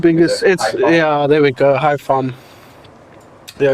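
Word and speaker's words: Hải Phòng: Hai Pham. Yeah, you don't pronounce the NG in Vietnamese. You just say it as an M. Hai Pham.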